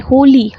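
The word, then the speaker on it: holy: यहाँ पर H silent नहीं है, होली ह है इसका प्रोनाउंसिएशन।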